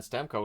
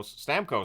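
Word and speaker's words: Stamkos: a power play that's killed off and then stem Co Stam Co I should say is denied on a rush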